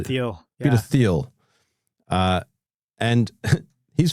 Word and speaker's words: Thiel: Peter Teal or Peter Theal. How do you say it? Peter Peter Theal or Peter Thiel? Peter Theal.